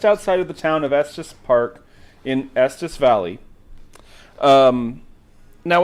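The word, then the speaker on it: Estes Park: you're going have help me out here it's pronounced Estus Estus Park EST yeah it's it's just outside of the town of Estus Park in Estus Valley um now what's interesting about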